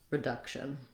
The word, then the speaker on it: reduction: it is that schwa, the shun, shun. Duction, reduction. Yes, so the vowel changes slightly, the syllable stress does not change, and the first syllables are the same in reduce and reduction.